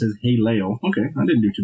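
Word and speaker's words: הֵילֵל: The Hebrew word translated as, I'm going to butcher the shit out of this, Haleo, pronounced as Haleo.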